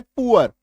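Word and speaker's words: poor: इसका एक एक्सेप्शन है पुअर। इसका एक एक्सेप्शन क्या है? पुअर। यह जरूर लिख लीजिएगा। पुअर में उकार की मात्रा होती है।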